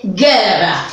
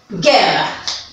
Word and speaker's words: guerra: Obviamente, guerra, ¿no? Entonces ya nosotros estamos... Ahí está, guerra. La G-U-E se pronuncia G y tiene mayor fuerza de voz, guerra.